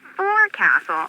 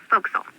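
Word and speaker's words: forecastle: ship but it's pronounced fil why is that try pronouncing it like an English sailor with no formal education F Castle folkl over time it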